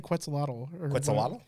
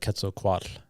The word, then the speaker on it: Quetzalcoatl: how do you say quetzalottal like if i have the tl diphthong correct it'd be like quetzalcoatl yeah the tl is sound yeah if i have